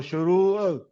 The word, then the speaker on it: شروع: ہوا تھا، اور عموماً یہ غلطی ہم دوست کرتے ہیں کہ شروع کو جو ہے وہ عین کے بغیر ہم پڑھتے ہیں، حالانکہ یہ صحیح جس کا جو تلفظ ہے وہ شروع یعنی عین تک اس کو پڑھنا چاہیے۔ جیسے ابھی نقاش صاحب